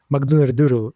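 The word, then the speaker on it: マクドナルド: And it's to the point that even like known brands like McDonald's has its own like Japanese localized pronunciation. Yeah. Which is the Magdunuro if I'm Yeah.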